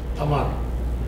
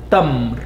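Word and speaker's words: تمر: Tamar. Tamar is at the beginning. Ramadan is coming up. Tamar. In the classical Arabic, we pronounce it as tamr.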